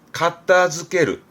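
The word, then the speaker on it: 片付ける: 그래서 발음은 가타즈케르, 가타즈케르입니다.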